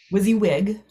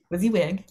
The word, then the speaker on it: WYSIWYG: ago so i'm saying it wrong i know wizzy wig there you go say i knew i was saying it wrong wizzy wig and it's my motto what you see is